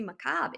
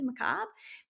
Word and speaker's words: macabre: That must be macabre. Is that really macabre? Because it's spelled with a BRE at the end. So in that word, the sound B is spelled BRE. There's a silent R, silent E.